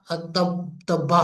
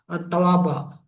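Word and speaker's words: توبة: मैंने प्रोनाउंस गलत किया, सूरत तौबा है।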